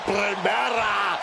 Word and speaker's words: Primera: You need to roll your R's a little bit on that, man. La Primera.